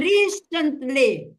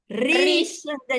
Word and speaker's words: recently: recently recently di sini memang the stress was on the first syllable recently stopped action recently